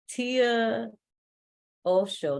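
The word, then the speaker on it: Tia Oso: Everybody, Tia Osho, did I say it right? Yes, you did. Okay, just like Osho, one of my favorites. Tia Osho is the executive director of Build Power.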